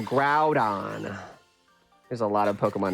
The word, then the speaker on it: Groudon: you don't oh yeah I bet you say groon instead of Groudon there's a lot of